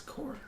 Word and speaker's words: corps: This isn't pronounced corpse. This is core.